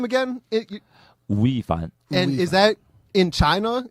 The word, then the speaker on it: 吳亦凡: Wu亦凡. That's my Chinese name, Wu亦凡.